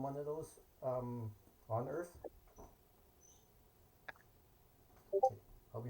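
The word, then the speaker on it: Oerth: a on a distant planet called Earth but it's spelled o e r t h funny okay would you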